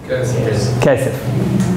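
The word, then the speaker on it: כסף: Kesef.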